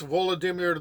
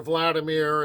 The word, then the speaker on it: Vladimir: other so when Prince vadir dies or St vadir or Vladimir if you're going with that different pronunciation which is more Russian he dies his sons